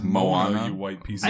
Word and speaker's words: Moana: Well, Moana- it's I definitely think not it's Moana, Moana. you white piece I of said Moana. Mohana. It's not Mohana either. It's What is it? Hawaiian, not Indian. Moana?